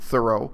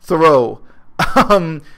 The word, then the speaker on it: Thoreau: In nonfiction, Henry David Thoreau, the historically correct pronunciation of his name is Henry David Thoreau, but everyone says Henri David Thoreau.